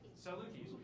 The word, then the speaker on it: Salukis: How do you pronounce that? Salukis.